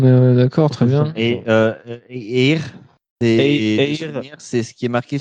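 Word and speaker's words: Éire: C'est Air.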